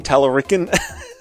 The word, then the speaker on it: Talarico: Pronounced like Puerto Rican, Talarican.